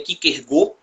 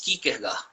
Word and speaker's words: Kierkegaard: A pronúncia correta seria Kierkegaard, em dinamarquês. Dois A's juntos tem som de OU, né?